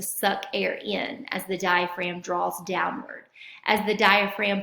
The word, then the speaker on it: diaphragm: Looks like it would be pronounced diaphragm, but the G is silent. So as the diaphragm muscle contracts, which means squeezes, it's going to flatten.